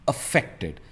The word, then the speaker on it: affected: Possible, अफेक्टेड एंड नॉट अफेक्टेड, इट्स अफेक्टेड, और इसका stress आता है सेंटर में, अफेक्टेड।